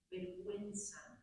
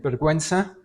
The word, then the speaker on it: vergüenza: hacer un comentario sobre vergüenza. Vergüenza lleva diis. Okay. Porque si no suena Okay.